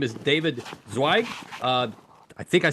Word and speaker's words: Zweig: His name is David Zweig. I think I said it right, my friend, David You got Zweig.